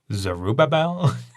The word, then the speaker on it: Zerubbabel: to pronounce that zerobible zerubbabel and that's anyone's guess there's like five syllables in there you can act put you the accent on any one of them you want stress whatever one you want i